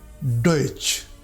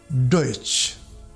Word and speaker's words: Deutsch: This combination is pronounced like Ch, as in Deutsch, Deutsch.